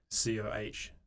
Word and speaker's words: COH: The H is silent. COH Digital.